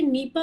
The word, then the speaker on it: Nipah: ये जो डिजीज है ये नीपा वायरस के थ्रू होती है, NIPAH इसका प्रोनाउंसिएशन और स्पेलिंग है इसकी।